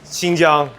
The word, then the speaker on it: Xinjiang: the weaker people uhhuh well first of all it's Shang and also it's the Wu I think I'm pronouncing that right the right they say weaker because they can't pronounce those letters okay anyways we're going